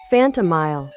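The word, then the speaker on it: Phantomile: How do you actually pronounce that? Google, help me. Phantom Mile. Well, that settles it then.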